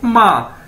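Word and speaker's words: 吗: जिस तरह हम अपनी माँ को कहते हैं माँ, तो सेम इसकी प्रोनाउंसिएशन ये है MA माँ।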